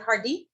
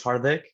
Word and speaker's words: Hardik: Is it Hardeep? Hi, yeah, my name's Hardik. A little bit difficult to pronounce sometimes, but Thank you.